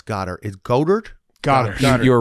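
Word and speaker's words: Goedert: Is Goddard? Goddard. You were right the first time. Just Goddard. Yep. Yeah. But it's spelled Goed.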